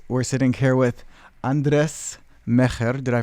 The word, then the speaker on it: Mejer: We're sitting here with Andres Meyer. Did I pronounce that right? Andres Mejer.